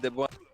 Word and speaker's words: Déboite: I think you pronounce it Robin Déboite. Robin Déboite. Okay, Robin Yeah. Déboite. So without the T.